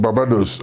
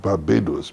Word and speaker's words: Barbados: pronounce words names Etc somebody said I come from barados and the English man said why don't you try calling it Barbados BB but that's the right pronunciation I come from Jamaica